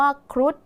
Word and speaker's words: ครุฑ: คำ สุด ท้าย ค่ะ คำ ว่า ครุฑ นัก เรียน สังเกต นะ คะ มี พ่อ นาง มณโฑ เป็น ตัว สะกด ออก เสียง พยัญชนะ ท้าย เหมือน ด เด็ก ใช่ ไหม คะ ดัง